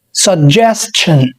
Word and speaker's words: suggestion: الكلمة الثانية هي الاسم من الكلمة الأولى، يعني الأولى فعل الثانية اسم ومعناها اقتراح، نطقها زيها بالظبط suggestion، هنزود بس الشن suggestion ومعناها اقتراح، فأقول لك مثلا that's a good suggestion.